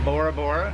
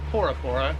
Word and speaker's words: Bora Bora: we are headed to Bora Bora or por por there's no B in the alphabet here yeah there's no B in the alphabet so we've been told that it's actually pronounced por pora uh so this starts